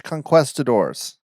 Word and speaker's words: conquistador: It involves Spanish conquistadors. Conquistadors? How do you say it? Conquistadors. Conquistador, because it's quest.